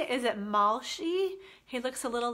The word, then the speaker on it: Malshi: Is it Malshi?